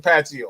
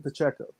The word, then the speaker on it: Pacheco: I just say Paccio. How about that? It's we're not too far off. You just pronounce that C and we all right. It's Pacheco.